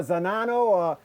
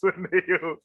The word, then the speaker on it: Zhaneo: No, it's Zhaneo. A lot of people is always pronounced it wrong. They say Zhaneo, Zane, this and that, this, that. And I'm like, what? It's Zhaneo. Zhaneo is right there.